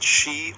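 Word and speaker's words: 四: You can pronounce it Chi or Yon, Y-O-N. Oh, wow. That's a really, like... Both right. It's a really varied pronunciation on the same word. Well, when you pronounce the word Chi, when you say the number four, like Chi, it's considered unlucky.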